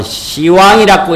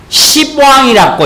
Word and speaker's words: 시왕: 고 해가지고 선 책이 있는데 그 책의 명칭이 예수, 시왕, 어떤 사람은 열십자, 임금왕자 이래서 가지고 시왕이라고 읽어야 되는데 글자대로 읽는다고 십왕이라고 읽어.